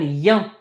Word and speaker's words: bien: So this I-E-N is yin. Pronounced yin.